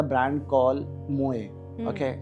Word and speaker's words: Mooi: तो best website according to me, there is a brand call मोए. Okay, it's an interior related brand. Okay, so let me spell it.